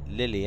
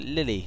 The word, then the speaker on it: Lille: yeah we've going to Lily a't we which is Lil I think pronounced Lil but I thought Lily sounds nicer doesn't it